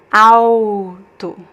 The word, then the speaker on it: alto: And the next one, you see the L in the middle of the word, but you see it's at the end of a syllable because the next letter is actually a consonant. So there's no way for us to pronounce the L here. It's alto, alto, alto means tall, alto.